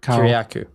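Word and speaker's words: Kiriakou: I couldn't find any news articles about it and I found this the ex CIA uh the whistleblower guy John Kurak Kyaku.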